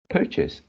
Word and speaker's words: purchase: my life, and uh, this one should be purchase, purchased. The stress should be the first syllable, and then the second syllables is not chase, it's chase. Purchase.